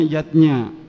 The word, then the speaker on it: yajna: lima macam selamatan zatnya tulisannya yajna Ayah Bunda tapi membacanya yatnya yang pertama adalah dewayatnya